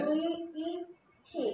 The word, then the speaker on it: vet: 윗니가 아랫 입술을 스치면서 내는 소리야.